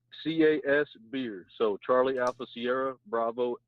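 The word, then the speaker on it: Casbeer: pretty similar to that so is your last name really case of beer it's cas beer so charlie alpha sierra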